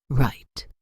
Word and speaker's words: write: Write. Silent W.